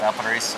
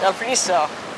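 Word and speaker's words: Valparaíso: How do you pronounce that? Valparaiso. Valparaiso.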